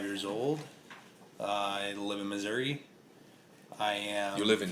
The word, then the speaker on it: Missouri: old I live in Missouri not missoury talk about that later